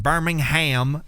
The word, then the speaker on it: Birmingham: So if you don't know about ERRA, ERRA is an American progressive metalcore band from Birmingham, Alabama, or BirmingHAM if you're American.